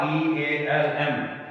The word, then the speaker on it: realm: It had been well said that Pasteur brought the facts, disease and death from the realm, REALM. यहाँ पे L silent है, इसको बोलना है realm, field, मैदान.